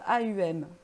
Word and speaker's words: Om: Ça s'écrit OM, mais ça se prononce AUM.